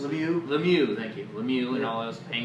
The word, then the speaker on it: Lemieux: Lemieux, how you pronounce it? Lemieux, thank you.